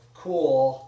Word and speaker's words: KUHL: I was wearing a pair of cool, it's spelled KUHL hiking shorts.